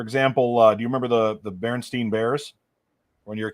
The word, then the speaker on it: Berenstain: It's not Berenstain. It's Berenstain. Stainn. And Bernie so the way it's spelled, Berestain, something like that.